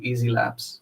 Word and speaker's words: YZi Labs: Is it YZI Labs or Yeezy Labs? It's Binance Labs, but they changed rebranded earlier this year to Easy Labs.